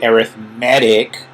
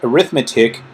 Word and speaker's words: arithmetic: i know we say arithmetic because when we use the word arithmetic as an adjective we pronounce it different don't tell me yeah